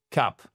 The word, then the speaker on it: cup: Cup, c'est un son court. C'est pas cup. C'est pas cup avec le bout de la bouche comme on aime bien prononcer en français. C'est pas cup, c'est cap. Voyez, c'est un son qui est sec, court. Cap. I have a big cup. Cap. Et on prononce bien le P à la fin.